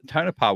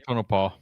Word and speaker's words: Tonopah: In that Tonopah, whatever it's called.